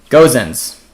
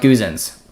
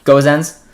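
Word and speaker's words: Gosens: uh that's pretty easy goes ins not guzens okay i'm mispronouncing gozens am i saying it right now goes ends very talented man very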